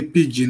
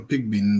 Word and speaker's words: Pigbin: correctly yeah is correct you say pigeon or Pig bin there's no problem pige pigeon yes pigeon